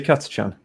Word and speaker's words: Catachan: I was going to say, how do you pronounce it? Do you say Catachan? Yeah.